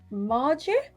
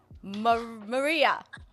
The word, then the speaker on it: Maria: So Margie? Maria. Is that how you Maria. say it? Yeah. You dropped the J. Yeah. It was that simple that it was Maria.